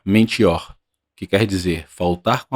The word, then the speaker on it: mentior: Na língua que influenciou a nossa língua, ou seja, o dicionário latim, se pronuncia mentior, que quer dizer faltar com a palavra dada, fingir ou imitar.